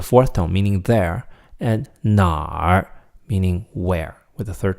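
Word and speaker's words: 哪儿: 哪儿, it's N-A, third tone, R, 哪儿.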